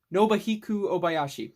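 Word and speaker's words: Nobuhiko Obayashi: for too long house or how do you pronounce his name oh god nobuhiku obayashi nobahiku obayashi there we go he actually died recently like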